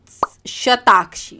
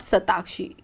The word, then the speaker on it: शताक्षी: प्रकट होती हैं, तो वो शताक्षी, नॉट सताक्षी, इन्हें ना गलत प्रोनाउंसिएशन होती है इनकी, ये सताक्षी, इट्स नॉट स, इट्स श, इट्स शताक्षी, शताक्षी, ठीक है।